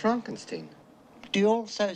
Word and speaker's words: Frankenstein: Frankenstein. Fronkensteen. You're putting me on. No, it's pronounced Fronkensteen.